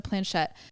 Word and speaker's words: planchette: to say this going back to the the planchette that I hope I'm saying that right all right Google said I pronounced it right the planchette it was in 1100 A.D it was it